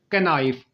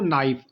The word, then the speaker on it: knife: First word is कैनाइफ। अक्सर लोग यही पढ़ते हैं। और जो इसकी करेक्ट प्रोनाउंसिएशन है वो नाइफ। नाइफ में केस साइलेंट होता है और यह बोला नहीं जाता लिखा जरूर जाता है।